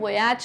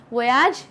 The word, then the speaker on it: voyage: वोयाज यानी कि इनको ट्रैवल करना है पानी के रास्ते से। ओके, आप वोयाज भी कह सकते हैं, आप वॉयज भी कह सकते हैं, दोनों प्रोनाउंसिएशंस आर करेक्ट।